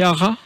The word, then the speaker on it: Hara: C'est l'entreprise ARA, ça s'écrit H-A-R-A.